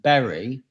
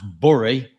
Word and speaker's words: Bury: Well, I grew up in a modest part of North Manchester known as Whitefield, which is between Manchester and Bury, that some people pronounce Bury, and it was quite green.